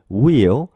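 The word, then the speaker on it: wheel: 금속 구조물이 있죠 이것을 will 이렇게 말하는데 우리가 보통 한국어로 휠이라고 많이 부르죠 자동차 휠이라고 부르는데요 영어 발음으로는 will will will에 가까운 발음이납니다 자 그래서 will will 자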